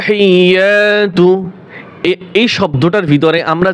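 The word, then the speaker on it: التحيات: আত্তাহিয়াতু এই শব্দটার ভিতরে আমরা যে ভুলগুলি করে থাকি এখানে অনেকেই টান দেয় আত্তাহিয়াতু যে আত্তা টান দেওয়া যাবে না প্রিয় দ্বীনি ভাই ও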